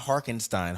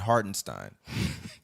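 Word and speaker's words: Hartenstein: Hardenstein, not Harkenstein, Hardenstein.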